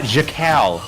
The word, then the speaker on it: Jacal: See, so yeah, remember earlier when I was saying we can tell if Jocko. How do you say his name? Oh, Jacal. Jacal.